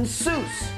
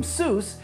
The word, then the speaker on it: Seuss: You're wrong as the deuce, and you shouldn't rejoice. If you're calling him Seuss, he pronounces it Seuss.